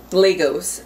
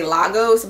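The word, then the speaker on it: Lagos: coming straight from from Legos I think that's how you say it I've always wanted to say losos but apparently cuz I looked up how to pronounce certain things it's Legos so it's very much sound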